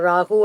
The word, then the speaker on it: Rahu: Randall, for Rahu and Ketu. Rahu, Ketu. Rahu. Rahu. That's a correct pronunciation. Okay. Ra, it's a dirgha letter, what we call the long letter.